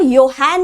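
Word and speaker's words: Johann: नाम Gregor योहान Mendel not Gregor जॉन Mendel yes spelling में of course it comes as जॉन Mendel but the correct pronunciation is Gregor योहान Mendel उन्होंने क्या किया ही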